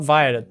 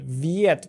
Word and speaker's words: Viet: Not Violet, but Viet.